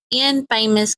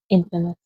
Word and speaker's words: infamous: Investigators also found letters written by Christy to one of the states most Infamous convicted killers. Dan. Huh? Infamous. No. Infamous. That's pronounced infamous. Right there.